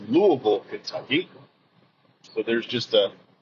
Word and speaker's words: Louisville: you're from the Midwest you don't go to Louisville Kentucky it's Louis Kentucky so there's just a a bit of